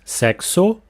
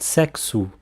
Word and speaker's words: sexo: always sound like in the Brazilian Portuguese standard pronunciation so not sex Oh but sex ooh to say to have sex don't use the